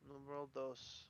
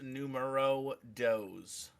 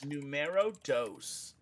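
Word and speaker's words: número dos: here Crystal numero dos World dose all right it's pronounced numero does okay numero dos 27 hit 27 crits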